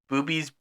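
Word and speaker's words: Bube's: So if you like your Pennsylvania ghosts, probably don't know about this one, but in Lancaster, there's a brewery called Booby's Brewery.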